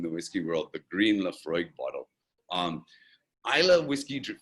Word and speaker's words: Laphroaig: and this is called laphroaig uh and again you'll notice a very peculiar spelling to this word um uh and it's just pronounced the freud um and we're gonna